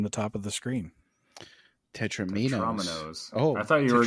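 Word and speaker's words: Tetrominoes: No, I've always heard Tetramino, but I want to pronounce it like Dominoes. There you go. That's why. Dominoes. Tetraminos.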